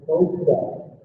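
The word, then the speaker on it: ProQOL: So I want to give everybody here a free tool that's accessible online, and it's called the ProQual. So I'll spell it out. It's spelled P-R-O-Q-O-L. P-R-O-Q-O-L.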